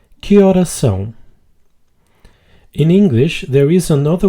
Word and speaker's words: horas são: A pronunciation tip here is to pronounce the S in horas and the S in são as just one sound. Que horas são?